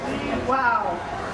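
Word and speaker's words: Lihau: spelled l i h Au U but it's pronounced Lee wow and uh we're very excited about this cat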